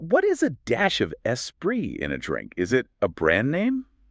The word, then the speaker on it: esprit: hand, a dash of esprit, and that's spelled E-S-S-P-R-E-E. Esprit. They needed a rhyme for sea and, spirit doesn't rhyme. Esprit, the French word, sort of rhymes, but maybe that felt